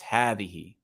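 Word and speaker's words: هذه: But it's pronounced hada, and this word is pronounced hadihi, okay?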